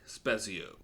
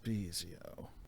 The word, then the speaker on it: Spezio: Spasio. It's pronounced Speizio.